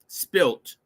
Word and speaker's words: Spylt: And I kept saying it wrong because it's Spylt. SPYLT.